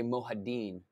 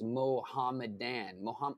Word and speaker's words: Mohammedan: I always want to say Mohadin, but that's not the way it's Mohammedan. It's Mohammedan. Oh my God, I've heard that word 1,000 times. Mohammedan by the Mohammedan Arabs.